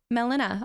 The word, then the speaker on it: Melina: Melina.